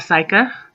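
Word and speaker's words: Syka: on my leg again then we have psycha like Psych you can tell I'm an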